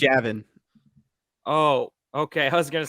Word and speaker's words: Javin: So it's spelled like normal Gavin. It's not Gavin. Here's a Mizzou-related Javin. question. It's Javin.